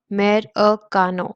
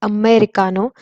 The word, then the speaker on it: Americano: It is pronounced as Americano. So it's Americano.